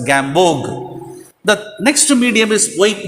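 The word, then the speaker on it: Gamborg: prepared by gambog bog the r b o r g will be that but we have to pronounce as gambog the next medium is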